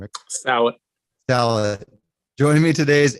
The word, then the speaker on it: Salit: How do you pronounce the last name, Eric? Salit.